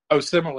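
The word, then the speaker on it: Osemele: Simile is how you say his last name.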